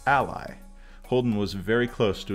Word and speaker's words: Allie: Since names are important, we can consider pronouncing Allie's name as Ally.